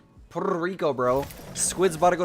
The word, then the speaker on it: Puerto Rico: You have to roll your Rs when you say Puerto Rico. Puerto Rico, bro.